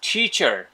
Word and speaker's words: teacher: teacher Teacher. teacher Teacher. teacher Teacher. Sounds good দেখো টিচার শব্দটা কিন্তু সব উচ্চারণ হচ্ছে বা ব্রিটিশ ইংলিশে কিন্তু দেখো লাস্টের রটা উচ্চারণ হয় না ওরা খেয়ে ফেলছে রটা